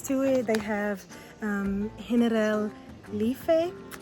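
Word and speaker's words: Generalife: They have um Henel Lee. It's spelled like general life, but that's not how it's pronounced.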